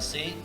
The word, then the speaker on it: C#: Nah, ini C# ini bacanya C#, tulisan adalah C dan pagar. Kalau kita sering di laptop, di HP itu ada tanda pagar. Itu adalah bacanya C#.